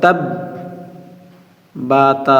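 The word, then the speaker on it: تَبَّتْ: বাটা তার সঙ্গে একবার পড়লেন তা বা জবর তাব বা তা জবর বাত তাববাত বলেন তাববাত তাববাত আবার বলি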